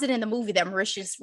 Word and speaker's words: Mauritius: I read an article, or was it in the movie, that Mauritius rhymes with delicious?